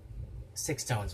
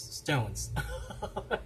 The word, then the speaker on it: SixTONES: Okay, we don't pronounce it as SixTONES, right? It's Stones.